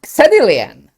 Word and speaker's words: Xedilian: So why are you why is it that X is so many times pronounced as Z?